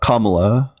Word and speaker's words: Kamala: Yeah, and I don't know if you know this, but her name is pronounced Kamala.